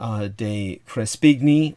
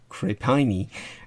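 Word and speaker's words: de Crespigny: mind the translation by rafe de crespigni or crepini as i would pronounce it uh he actually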